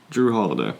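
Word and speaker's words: Jrue Holiday: How do you pronounce his name? Drew Holiday.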